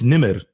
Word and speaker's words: Nemr: thank you man um tell everyone how to pronounce it because it's no nimr it's i i tell people it's it's actually it's nimr so my my my full name is which